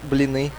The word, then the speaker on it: Blini: How do you really pronounce it? Blini. See, there you go. Blini.